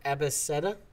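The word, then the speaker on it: abeceda: The alphabet in Slovakia is Abeseta. You don't pronounce the C as K, you pronounce it as C. So it's Abeseta.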